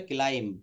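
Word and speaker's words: climb: এটা উচ্চারণ হবে ক্লাইম্ব। কি হবে বলেন? সি এল আই এমবি।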